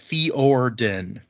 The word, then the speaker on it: Fjordan: Uh some of them are like apparently Fjordan is pronounced Fioren. Fjordan. So the J doesn't really seem to have much effect. Well, that sort of adds a sort of a Y to it.